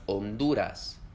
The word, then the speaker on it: Honduras: En español, la H no se lee. En las palabras Honduras, Héctor o La Habana, la H en ningún momento suena.